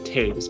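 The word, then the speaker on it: Toews: is so so good her last name is pronounced taves by the way thank you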